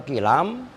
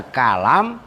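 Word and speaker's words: كِلام: Wal kilamu dan bermula kilam bikasril kafi dengan dibaca kasroh kafnya yaitu kilam. Jadi ada kalam, ada kulam dan ada kilam begitu loh. Maknanya al jirohatu itu luka-luka. Ya luka. Al jirohatu itu yuqalu diucapkan dalam bahasa Arab fulanun bihi kilamun. Ai jirohatun. Fulanun bermula si fulan, bihi itu dengan si fulan, kilamun. Nah, itu bukan kalam tapi kilam.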